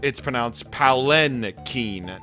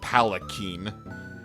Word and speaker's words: Palanquin: It's pronounced Palanquin, not Palakine.